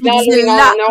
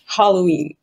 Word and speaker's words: Halloween: Nous, on dit l'Halloween. On met un déterminant. Oui. Ah, d'accord. Puis, Halloween. Voilà. On sent le H aspiré à mort.